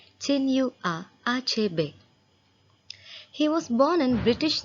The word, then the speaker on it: Chinua Achebe: Today we are going to learn the lesson The Shell Falls Apart written by Chinua Achebe. Yes, that is how you pronounce his name, Chinua Achebe.